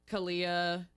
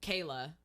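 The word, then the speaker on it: Khaylah: met a bad Katie Kalia or no Kayla it's spelled weird k h a y l a h 28 Durham Durham North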